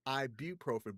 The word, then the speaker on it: ibuprofen: So, it's properly pronounced ibuprofen, but nobody says it that way. I The ibuprofen is more fun.